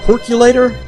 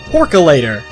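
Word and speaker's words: Porkalator: and it leads to a percolator or percolator how is it pronounced here it's porculator there we go so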